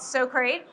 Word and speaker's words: Socrait: We are here to tell you about a relatively new company called So Great. Rhymes with so great.